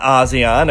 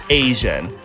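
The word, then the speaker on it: A.C.E: out and tell you it's not ASEAN or AC and a period symbol shun or a point shun I know it's shocking it's Asian and just like we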